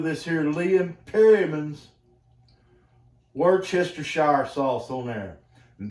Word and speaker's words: Worcestershire: here in Liam pyramins Worcestershire shower sauce on there and that's how you pronounce it word Chester shy comes from Worchester Shire England okay get that a